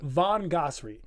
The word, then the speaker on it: Von Ghasri: How do you pronounce it? Von Ghasri.